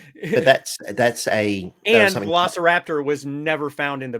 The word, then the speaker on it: Velociraptor: But you hear Velociraptor.